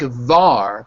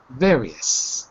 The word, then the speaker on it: various: you go than yeah so it looks like VAR but it's not VAR it's ver various yeah with v yeah